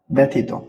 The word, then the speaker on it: ব্যথিত: জফালার উচ্চারণ এ এর মত হবে ব্যথিত।